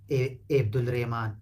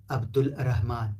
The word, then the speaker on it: عبد الرحمن: عبد الرحمنسم عبد الرحمن الاتراك اتراك من اتراك من تركيا هم يقولون ابد الريمان او ابن الرهمان او عبد الرهمان او عبد الرهمان لا